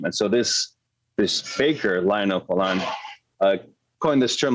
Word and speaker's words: Poilâne: went to in Paris is a bakery called Poilâne, and that's spelled Poilane, because this guy, Lionel Poilâne, he basically, after World War II, bread started